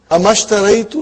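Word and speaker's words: أما اشتريت: Anything comes before it, you will not pronounce the hamzatul wasal. So we have here ma. How will you say now? Mashtaraitu. Amashtaraitu laka daftaran fil usbu al maadi.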